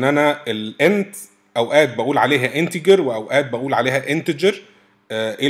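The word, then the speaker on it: integer: لي رساله ان انا الان اوقات بقول عليها انتجر واوقات بقول عليها انتجر ايه الفرق او انهي الصح بص انا كنت طول عمري بقول انتجر عشان انا اتعلمت في مصر واللي علموني مصريين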